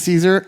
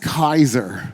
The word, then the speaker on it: Caesar: of the way um his name wasn't Julius Caesar it was gas ulius Kaiser the poor guy like